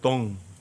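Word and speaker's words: dung: 배설물이 영어로다가 DONG예요. 덩. 우리는 좀 발음을 좀 세게 해야 할 뿐이에요. 영어는 덩 이러고요. 우리는 똥 그래요.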